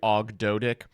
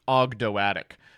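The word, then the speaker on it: Ogdoadic: this to you but it's not actually OG doic it's actually pronounced ogdo atic um I'm giving them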